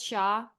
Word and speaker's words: Hsia: You pronounce it as Shia.